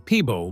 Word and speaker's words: Peabo: him as a child was not exactly Peabo. It was closer to Pepo. As he grew older and spent more time around musicians and performers, people around him struggled to pronounce the name correctly. Little by little, the sound changed. Eventually, people started saying Peabo more often, and the name stayed.